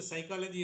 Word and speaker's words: psychology: Mahaparival, see, for everything, he knows the psychology of the people. The psychology, because if you know the word psychology itself, P is silent.